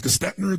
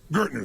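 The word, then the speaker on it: Gerstner: It was Gestetner, the gentleman who came in, who was like the major turnaround guy. What's his name? Gertner, thank you. And Gertner comes in, and sure enough, when Gertner came in, the first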